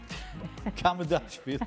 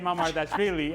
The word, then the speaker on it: Mamardashvili: show at home and I heard him say Mamardashvili, and I said, is there a K? Did he use a K in this? Is there a double K, Mamardashvili?